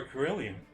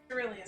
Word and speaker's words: cerulean: Liam said they were Carillion. Cerulean. Cerulean, wow.